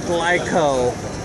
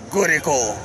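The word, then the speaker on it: Glico: the gico man or I I read it as glyco but everyone here calls it gico and that's how the Japanese say it so I'm going to say it like them and we also have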